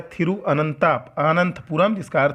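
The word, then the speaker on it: തിരുവനന്തപുരം: पुराना शहर है यह तो इसको बोलते हैं मलयालम इसका उच्चारण होता है थिरुअनंतपुरम भगवान अनंत हैं इसलिए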